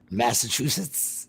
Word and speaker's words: Massachusetts: Massachusetts.